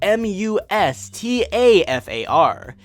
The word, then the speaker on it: Mustafar: takes place on an awesome-looking lava planet spelled mus TAF AR it should be pronounced Mustafar not Mustafar or Mustafar Mustafar Tatooine